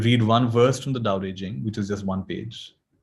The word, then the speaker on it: Tao Te Ching: It's spelled Tao Te Ching, but it's pronounced Tao Te Ching.